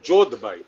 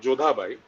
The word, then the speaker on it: Jodhbai: The incident in the Jodha Akbar thing, there is a character called Jodhbai, not Jodhabai, and it is not a case of pronunciation.